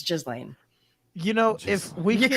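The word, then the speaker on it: Ghislaine: what i've that's how i thought it was pronounced i've always called her you slain just lane i've everything but the correct the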